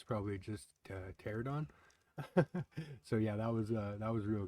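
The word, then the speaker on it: Pteranodon: When I was watching the video after, I realized I called it pterodon, and I'm pretty sure the P is silent, so it's probably just pterodon.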